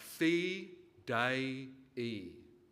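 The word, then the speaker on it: fidei: get you all to pronounce the college motto correctly Signum feed Signum dropping the U I'm happy enough to put up with Signum never signam but Signum is fine but Fe day it is a three syllable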